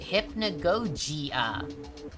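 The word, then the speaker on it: Hypnagogia: My name is derived from the game's title Hypnogogia and you pronounce it Hypnogogia.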